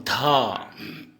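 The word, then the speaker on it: ধ: और इसका हिंदी उच्चारण करेंगे दो। ठीक है दोस्तों। अब ध, ध का असमिया में ऐसे लिखेंगे धो और इसका उच्चारण हम हिंदी में ऐसे करेंगे धो, ध धो।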